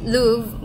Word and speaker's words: Louvre: You try like to koan, but I think it's pronounced as Louvre.